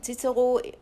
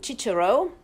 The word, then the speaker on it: Cicero: Das ist der Cicero, der erscheint in Berlin. Viele sagen Cicero, also englisch ausgesprochen.